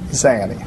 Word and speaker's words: Zanny: Pronunciation, sir, is Zanny. No, sir. Zanny. Instead of Zenny to what you're saying.